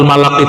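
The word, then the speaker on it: ملك: Jadi yang pas bacanya malak ya.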